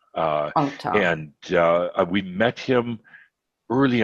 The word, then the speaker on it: Althar: 6, because this is, I don't know if you pronounce it Altar or Althar, The Crystal Dragon by Joachim Wolfram. And I think, isn't Joachim one of your Crimson Circle people? Yeah, actually, the book, he pronounces it Altar.